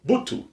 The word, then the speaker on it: Butu: So Butu. They pronounce it the same exact way. The implosive B. Yeah, the B is pronounced with the B in Pulaar with the curve on it.